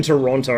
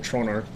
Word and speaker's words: Toronto: see we'll see how we go stuck in Toronto roof sorry I need to use the correct pronunciation trono there we go I've been a foreigner for